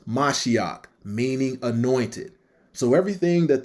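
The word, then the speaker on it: מָשִׁיחַ: Messiah out of that verse is H4899, pronounced Mashiach, meaning anointed.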